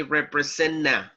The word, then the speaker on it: representative: We omit the letter T and we say representative.